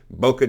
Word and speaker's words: bokeh: to be then there's bokeh pronounced Boca emphasis on both syllables and it's used to